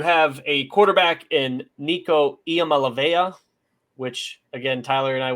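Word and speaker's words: Iamaleava: always laugh at because we thought that was an l and we had mispronounced that for at least a season and a half I think I'm just now learning that was an I yeah I didn't realize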